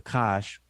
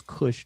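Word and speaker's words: Kush: You have the everybody knows about the Kosh, which we pronounce as Cush, the Cushites.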